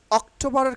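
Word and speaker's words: October: লক্ষ্য করেন খেয়াল করেন সেপ্টেম্বার সেপ্টেম্বার সেপ্টেম্বার তাইলে অক্টোবরের ক্ষেত্রে কি উচ্চারণ হবে অক্টোবা অক্টোবা এই যে ও দেখছেন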